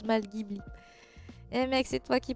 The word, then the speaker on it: Ghibli: Ça se prononce pas comme ça se prononce Ghibli. Je dis mais au Japon même, ils prononcent Ghibli. Ne me dis pas que ça se dit Ghibli.